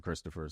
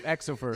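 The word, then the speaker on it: Xopher: So it's spelled Exofer or with an X, but he pronounced it Christopher.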